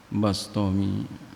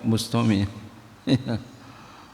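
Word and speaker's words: بسطامي: Wafa ulini amin waqad qasada Abu Yazid al Bastomi. Ya, dalam sirajut tholibin dibilangin bacanya bifathil ba bastomi. Tapi umumnya kita bustomi.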